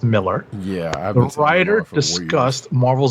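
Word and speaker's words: Millar: in miller's newsletter you know some people say malar but it's actually pronounced miller yeah the writer discussed marvel zombies on the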